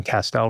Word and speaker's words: Castel: And so I tell people my last name is Pastel, Castell, you know, Castell rhymes with pastel and my grandfather used pastels, let's say.